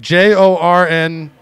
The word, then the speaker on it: Jorn: Like J-O-R-N Satter. S-A-T-T-E-R. No, you can't pronounce the J. It's Jorn. Jorn.